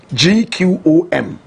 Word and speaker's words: gqom: big fan of poem correct pronunciation clone gqom they say it with a click of the tongue jerusalem is quote i